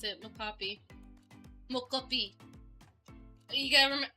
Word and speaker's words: mocopi: That's how you pronounce it, Mocapi.